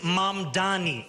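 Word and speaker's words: Mamdani: And furthermore, the name is Mam Dani. M A M D A N I.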